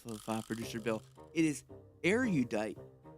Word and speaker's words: erudite: It is spelled e r u d i t e. Okay. Arudite.